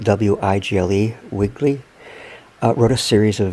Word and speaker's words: Wigle: Recently, a viewer here on YouTube, Iris, and I don't want to mispronounce her name, but it's spelled W-I-G-L-E, Wigle, wrote a series of very interesting comments to me about the Bearwalker.